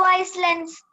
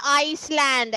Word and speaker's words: island: Ma'am, what is the name of the 2 islands? Andaman and Nicobar Islands. Many times I told you it's not Iceland, it is island. That S is silent, children, please.